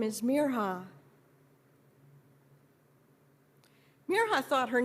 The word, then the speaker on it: Mirha: They stretched out the I until it sounded like an E and the R sounded wrong, and some people forgot the H.